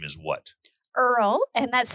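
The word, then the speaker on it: Irle: i l e so whenever telemarketers would call back in the day they would say it's Mrs IR there which we all knew was a telemarketer so of course we would say no she's not here because it was Miss Earl so wait a minute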